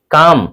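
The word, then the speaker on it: calm: काम इसको कॉलम नहीं पढ़ना है। जी। यह सी एल एम है। इसको हम पढ़ते हैं काम। यानी एम के पहले एल साइलेंट होता है।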